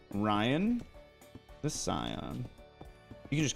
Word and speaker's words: Ryan the Scion: it's snowing and like hailing it's awesome I pronounce my channel name Ryan the Scion you can just call me Ryan though that's